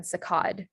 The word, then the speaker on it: saccade: And then saccade is ade.